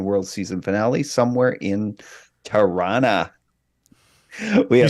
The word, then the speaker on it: Tirana: It's Tirana? Tirana. Yeah. It's a There- way it's Yeah. this way that we pronounce it. Oh, you going to Tirana tomorrow? No, yeah, Oh, yeah. No, That's awful. There's no T's, there's R's in there for some reason. It just kind of rumbles out.